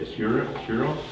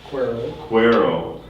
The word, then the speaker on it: Cuero: call at zion lutheran how do you say cure cuero that's got a good spanish flavor to it and of course spanish